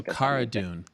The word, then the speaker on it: Cara Dune: right except for me okay so Cara dune like Carano Cara dune okay and there she